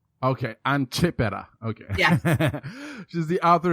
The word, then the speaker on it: Chiappetta: LA your last name my last name is c h i a p p t t a and you pronounce it and it's chiaa okay an chipa okay yeah she's the